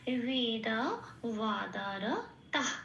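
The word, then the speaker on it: বেদবাদরতাঃ: তাই সাথে জুড়ে এটাকে উচ্চারণ করব তাহ, এরকম বলতে হবে। তাহলে হলো কি, শব্দটা কি পেলাম? বেদা ওয়াদার তাহ, এটা।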